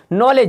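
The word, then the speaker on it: knowledge: ए गया तो दी मेरा क्या हो गया साइलेंट हो गया नॉलेज देखिए जी से पहले ए गया यानी क्या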